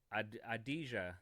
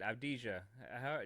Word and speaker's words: Avdija: And then we had this dude, Adija. How do you say it? Avdija.